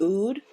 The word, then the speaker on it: oud: So I know, a lot of people use, I think it's pronounced oud, O-U-D, rose, lavender.